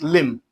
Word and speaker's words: limb: The letter B here is silent. So, that makes it limb.